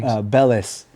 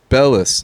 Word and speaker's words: Bellus: Your last name? Bellus. Bellus. And how do you spell that? B as in boy, Ellus. Bellus.